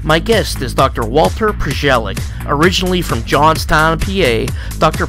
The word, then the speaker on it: Prozialeck: It's pronounced Prozialeck.